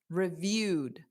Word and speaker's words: reviewed: Because review is a verb. And the e d doesn't add an extra syllable. So it's da reviewed. So it's just a very soft d at the end.